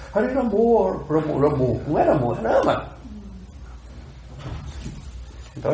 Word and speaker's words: Rama: Prabhupada nos ensinou claramente a pronúncia do sânscrito. Rama. Aí a pessoa vê um kirtana lá de bengalis, com o sotaque deles, a gente quer imitar. Ramo. Mas não é sânscrito. É bengali.